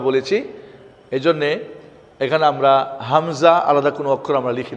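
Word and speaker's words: همزة: এই জন্যে এখানে আমরা হামজা আলাদা কোনো অক্ষর আমরা লিখি নাই, তবে এর উচ্চারণটা হবে হামজা, হামজা, হামজা।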